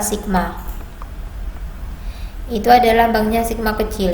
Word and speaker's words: sigma: Rapat muatan itu lambangnya ini bacanya bukan tau tapi bacanya itu adalah sigma.